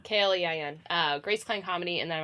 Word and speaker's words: Klein: Klein is spelled Klein, not Kline. So Klein.